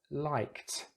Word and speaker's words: liked: It's a K, the K sound. And the K doesn't have vibration. So we can use the T, liked.